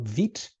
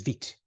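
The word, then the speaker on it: Vite: vit which is the the French way or the the France way of pronouncing fast or quick so it is vit and we'll use vit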